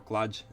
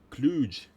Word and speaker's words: kludge: pronunciation I use for kludge. Ah, really? Kludge. Basically, I pronounce it like clutch, kludge. There's one from the other half of North America that is more drawn out and soft. Kluge.